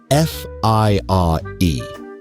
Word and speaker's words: FIRE: of schedule, as part of a movement called F I R E, financial independence. Retire early, pronounced with a completely straight face, fire.